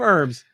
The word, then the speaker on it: herb: herbs all the time herbs I got a nerve doctor that tells me otherwise his name's Drew Carey he's doing more than herb that's herb with the silent h for those of you